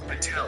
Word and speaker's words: Patel: It's not how you pronounce my last name. To everyone who doesn't know, it's Patel.